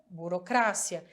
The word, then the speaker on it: burocracia: Burocracia, burocrácia. E ainda a gente sabe, através desse burocracia, que burocracia, advocacia, geografia, biologia, todos eles, a sílaba tônica vai ser a anterior do que é o da língua portuguesa.